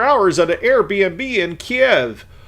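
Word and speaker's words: Kyiv: at an Airbnb in Kiev or suddenly how they pronounce it now keev I I I don't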